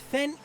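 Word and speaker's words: Fen-Yll: two eyes I have been told it is pronounced Fen I hope I got that correct then ill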